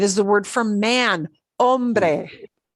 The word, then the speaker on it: hombre: It is the word for man, hombre. Even worse if you put an H sound in there, right?